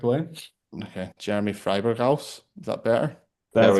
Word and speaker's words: Freiburghaus: How would you pronounce it then? You might get it similar to what I said, so we'll see. Freiburghaus would be the probably the most correct way. Okay, Jeremy Freiburghaus.